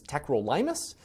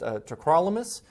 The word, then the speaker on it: tacrolimus: we're moving on to another medication this is tacrolimus some people refer to this as techrolimus but it's actually pronounced tacrolimus it's another medication it's an immunosuppressant but it's